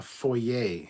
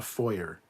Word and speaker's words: foyer: all you Americans but you have a foyer in your house not a foyer it is not a foyer it is a foyer the r is silent that's another thing every